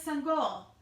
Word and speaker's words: Sangoel: he would call next my name is Sun goal he said before the coach could say it wrong son goal walked home